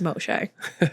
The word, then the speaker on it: Moshe: name is Moshe. Just the correct pronunciation of Moses.